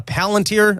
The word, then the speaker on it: Palantir: There's a storyline that I find fascinating that I've not been able to delve into and I think it's pronounced uh Palanteer. I think I have that right.